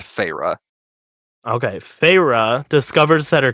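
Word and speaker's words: Feyre: so much it's just in there yeah it's pronounced PHA okay phra discovers that her captor is not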